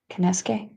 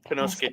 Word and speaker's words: Konosuke: Kinesuke? Konosuke Takeshita.